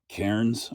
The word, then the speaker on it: Cairns: Kairens, I think is is how it's pronounced.